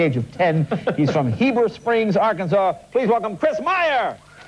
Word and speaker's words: Heber Springs: Now tell us, is it Heber Springs? Am I saying it right? Yes, sir. Okay, no, whereabouts is that? Everybody else says Heber Springs. Heber Springs, okay.